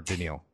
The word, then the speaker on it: Daniil: Or Daniil. It's pronounced Daniil.